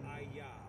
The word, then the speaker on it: IAH: Sea Scrolls Alf heod and it's pronounced Aya because that's the sound on the children's names number 6 27 they